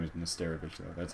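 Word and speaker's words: Nesterović: Nesterovic.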